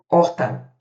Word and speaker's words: horta: Não se esqueçam de que o H início na língua portuguesa, início de oração ou início de palavra, ele não tem som. Então, por exemplo, aqui, ó, horta, a gente tem quantos fonemas?